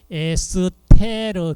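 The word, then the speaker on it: ester: coo 자이 결합을 에스터 독일식 발음으로 발음을 하면은 에스테르 결합이고 이것이 발음으로 한다면 에스더라고요 입속에서부터 타액 리파제나 위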